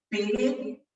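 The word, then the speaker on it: père: Él habla de Pere en francés, quiere decir padre, ¿sí? Y así se escribe. P-E-R-E, con el acento al revés, es Pere, ¿sí?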